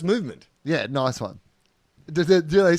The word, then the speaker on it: MVMT: TOFOP is brought to you by Movement Watches, spelt MVMT, pronounced movement.